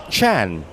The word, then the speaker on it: Tran: I'm sure he's used to being called Tran already when he was in Canada, but the correct pronunciation, as we learned from our friends from Vietnam, is actually Chan.